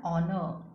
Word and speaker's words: honor: But here R, their H is silent. So, we use an R, an honest man, an honor.